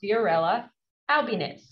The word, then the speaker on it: Fiorella Albinez: Today, our student ambassador is Fiorella Albinez. Did I pronounce it right, Fiorella?